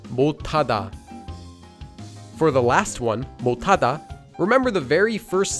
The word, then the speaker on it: 못하다: At the end of a syllable, if one of the 7 consonants isn't followed by the empty consonant, it becomes pronounced as a digut. So this syllable is pronounced as 못, making the entire word 못하다, 못하다.